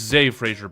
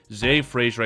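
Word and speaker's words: Zah Frazier: So it's Z Frasier, by the way, guys. It's spelled Z Ah, but it's pronounced Z. Z Frasier.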